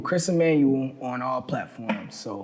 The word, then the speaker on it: Ammanuel: where can the people follow you uh emanuel chris emanuel on all platforms so m c-h-r-i-s-a-m-m-a n u